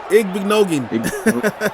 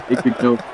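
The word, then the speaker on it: Igbinoghene: Igbenogin. Yeah. Igbenogin.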